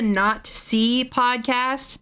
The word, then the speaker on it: Not See Podcast: It's called It's called the Not See Podcast, but you know, obviously when you said it when you say it together, it sounds like Nazi.